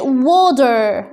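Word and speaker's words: water: شباك يعني ويندو ويندو ميه يعني ودر ودر ودر ودر يعني دي هننطقها زي الدي تاني صوت الدبليو و و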